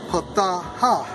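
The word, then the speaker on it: פָּתָה: And it's Strong's H6601, pronounced as pataha.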